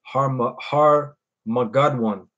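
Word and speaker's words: הר מגידו: That's how you say it in the Hebrew. Harmagadwan.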